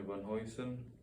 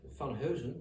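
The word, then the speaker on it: Van Heusen: and donald dream jimmy van hoysen yeah sorry for the pronunciation yeah it sounds dutch van hosen it's really a dutch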